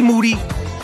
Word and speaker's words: Moody: in detail with G moody last name rhymes with Duty and I'm also gonna